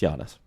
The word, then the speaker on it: Giannis: It's Giannis. Well, I butchered both of them then.